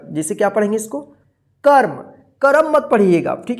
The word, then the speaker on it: कर्म: क म के ऊपर क्या है, रेफ की मात्रा है, तो इस रेफ की मात्रा जो है ना क के बाद आधा र उच्चारण होगा, जैसे क्या पढ़ेंगे इसको, कर्म।